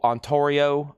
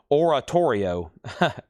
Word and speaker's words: Oratorio: That's Liverpool, Ontario, on Oratorio. What am I keep saying? I keep mispronouncing it. Oratorio.